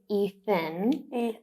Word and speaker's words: Ethan: Or TH, like my son's name is Ethan. He is always called Ethan. So TH is a very difficult one for Indonesians.